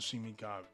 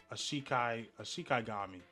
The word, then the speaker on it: shikigami: Death Swarm is an endless stream of Shimigami. Shikigami.